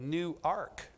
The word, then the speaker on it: Newark: as this one is I was warned about making sure I said new arc this morning because the uninitiated uninitiated might stumble into problems if they pronounce that the wrong way the way that the